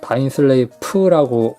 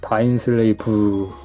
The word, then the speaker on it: 다인슬레이브: 부쿠시노의 다인슬레이브 같은 경우는 보통 F로 끝나니까 다인슬레이프라고 표기를 하잖아요. 그런데 셔렐의 오펀스에서는 다인슬레이브가 맞습니다. 비읍 발음이에요. 다인슬레이브.